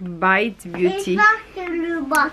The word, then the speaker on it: Bite Beauty: En fait, la marque Bite Beauty, prononcée en anglais, puisque c'est anglais, ça veut dire mordre en anglais.